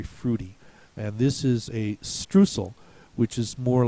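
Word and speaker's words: Streusel: the German pronunciation for strucel and they actually pronounce it strel so if you ask are there any alternate pronunciations he should give you that one should say stal and then you should say bingo now I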